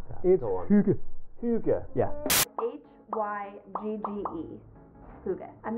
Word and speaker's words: hygge: guide this week and the book tells me that it's pronounced hygge hygge hygge roughly translates